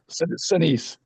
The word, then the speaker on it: Sinise: How do you say his name? Shanice. Sinise. Shanice.